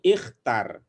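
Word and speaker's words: اختر: Kalau untuk perintah ya itu ada dua cara membacanya antara i dengan u, gitu ya. Jadi ini ikhtar ya, ikhtar az-zarfa al-munasiba.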